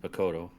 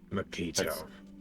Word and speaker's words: Makito: Well, I got a little bit of a talk with Makoto, or that's Makito. Makito. Don't let him hear you And say it wrong.